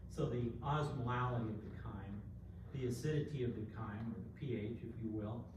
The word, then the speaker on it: chyme: We pronounce it chyme, C-H-Y-M.